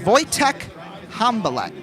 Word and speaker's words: Wojtek Hambalek: He was with Waterloo last year, but it's Wojtek Hambalek. That's how you pronounce his name.